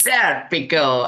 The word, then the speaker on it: Serpico: Am I pronouncing it correctly? Serpico. You are said, Pico, yes. Serpico.